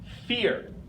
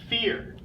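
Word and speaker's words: vier: sound dry number four this one is pronounced fear fear and what you see we have a new letter combination ie which I put up over here gives us our key sound fear V makes the F the e sound and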